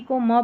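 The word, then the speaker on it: comb: 50 पर है एमबी इसको म पढ़ेंगे एमबी को म पढ़ेंगे अब यहां पर जो बी है वह साइलेंट है और लास्ट में आता है क्लाइम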